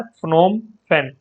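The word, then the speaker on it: Phnom Penh: बड़ी अजीब सी कैपिटल है, ठीक है, इसको प्रोनाउंसिएशन कर लेना। ये है फ्नोम फेन, ये कैपिटल है कंबोडिया की।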